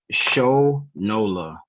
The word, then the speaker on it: Shonola: you say your last name by the way show nola show no no i got a nickname from